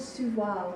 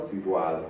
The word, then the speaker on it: sous voile: It's called sous voile, which basically means under a veil. Sous voile. Sous voile. You actually pronounced a few of the letters that time.